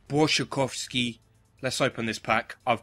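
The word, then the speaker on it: Błaszczykowski: few of them so is that blasik kovski is it I thought had spiky is actually I think my girlfriend said it's brovsky cuz she's polish she is Polish shees pronouncing she telling us how wrong English people are doing everything B shikovski let's open this pack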